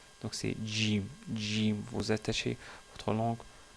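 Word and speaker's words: ج: dit que le le le GIM se prononce comme si c'est un G français donc ils disent GIM au lieu de Jim mais parfois c'est encore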